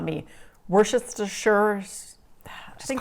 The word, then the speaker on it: Worcestershire: Is the Shire silent, or do you say the Shire? I've heard some people say it's a silent Shire. The whole Shire is silent. Yeah, the whole Shire. You're just supposed to say Worcester sauce.